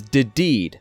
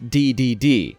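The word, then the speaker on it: Dedede: properly pronounce his name for years I thought it was DED not DDD I still remember the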